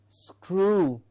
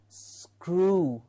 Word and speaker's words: screw: it is scroll screw please remember this has does not have the u sound it is not screw it is the long uh sound as well that we need to keep in mind to give us screw okay all you need